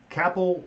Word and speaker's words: Kappell: PE ll if you don't know how to spell it didn't let me help you out it's right there Kapil whether not come Kapil whether just but you're